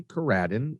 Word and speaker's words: Coradin: So as I mentioned, Coradin, and I emphasize the ra and Radin.